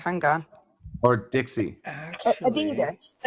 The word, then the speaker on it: Adidas: How do you pronounce that? What did Crazy Train say? Hang on. Or Dixie? Actually, Adidas. Adidas.